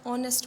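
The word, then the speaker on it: honest: क्योंकि यहाँ पे एच हमारा साइलेंट होता है और यहाँ पे साउंड किसका आता है, एक वॉवल का आता है, ऑनेस्ट।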